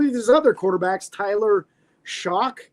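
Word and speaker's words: Shough: uh and some of his other quarterbacks Tyler shock it's spelled s h u g but pronounced shock he's six fo four and 78 224 pounds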